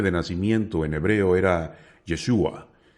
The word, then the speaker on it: Yeshua: fluer y Samuel safra el nombre yeshua se habría pronunciado yeshu durante el siglo primero al parecer los galileos no pronunciaban la aí la letra final de la palabra de ahí que la